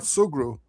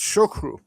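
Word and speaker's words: Sugrue: First of all, uh it's a Kerry name, but the English pronunciation is not Sugru, it's Shukru.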